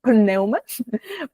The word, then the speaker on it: Pneuma: Neuma se escribe con p aire, como la palabra griega. Entonces, pneum Madrid.